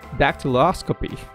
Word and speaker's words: dactyloscopy: And it is dactyloscopy. I'm smiling because I kind of doubted myself if I pronounced that right.